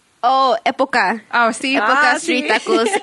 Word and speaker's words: Época: And it's in Omaha at, I'm probably gonna say it wrong, Apaca Street Tacos and Sports Cantina. Oh. Did I say it? Okay. You Let would me probably pronounce it better. Oh, Época.